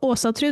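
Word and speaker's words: Ásatrú: So Asatru, the way I pronounce it is with the Scandinavian O, the A with the circle on top, Asatru with a U.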